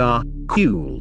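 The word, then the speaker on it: AQAL: at this next all quadrants all levels little pronounced are cool represents the core of Wilbur's work Buckle stands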